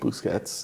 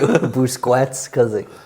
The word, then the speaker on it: Busquets: Busquets. Because no matter how I say it, there's some issue with you. Busquets, because you can't pronounce a Q like a Q is pronounced.